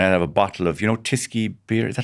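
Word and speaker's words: Tyskie: I'll have another bag of jellies, 3 packets of Hunky Dories, and I'll have a bottle of, Tisky beer. Is that how you pronounce it?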